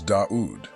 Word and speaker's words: Dā'ūd: Star which is duat the Arab AIC pronunciation of David is daud which draws a fascinating